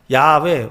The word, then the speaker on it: 야훼: 구약의 이름은 잃어버렸다 그랬죠 여호와는 야훼 yhwh라고 하는 자음만 남아 있어서 모음은 없어요 그래서 뭐라고 읽어야 될지를 지금도 몰라요 학자들이 추정하기로 야훼라 읽으면 되겠다 해서 야훼라고 얘기하고 그리고 성경에는 여호와라고 그렇게 번역을 해 놨죠 yhwh라고 하는 자음에다가 아도나이의 모음을 붙여서 그래서 하나님의 이름을 부르면 죽는다